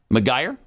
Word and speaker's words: Macgregor: Tucker Carlson sat down with Colonel Douglas, how do you say his last name? McGuire? Is it McGuire? McGregor? I thought it was McGregor. Yeah. McGregor, it is.